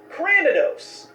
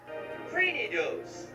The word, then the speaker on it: Cranidos: How about Cranidos? Cranidos. Craninos. Okay, crane, like cranium.